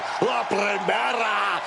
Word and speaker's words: La Primera: You need to roll your Rs a little bit on that, man. La Primera.